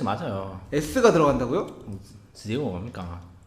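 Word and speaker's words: rượu: 지오저. 베트남어로 술이 굉장히 어려운 발음입니다.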